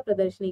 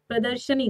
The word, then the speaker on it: प्रदर्शनी: अब तक उम्मीद है सबको याद हो चुका होगा प्रदर्शनी का शुद्ध रूप क्या होता है, लेकिन फिर भी एक बार उच्चारण सही से करिए। प्रदर्शनी होता है, प्रदर्शनी, प्रदर्शिनी नहीं, प्रदर्शनी।